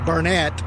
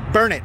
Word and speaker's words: Burnet: I know it looks like Burnet, but it's Burnet, darn it. That's how it's pronounced.